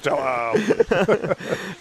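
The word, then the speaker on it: João: you to laugh at, but it would be pronounced correctly. You'd be like, and here he comes, it's Figueiredo. Joao. It's Joao.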